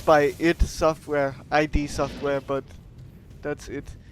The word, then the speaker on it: id: I know it that it's by id Software, ID Software, but that's it. It's a very confusing name also. It's pronounced id, but it's ID.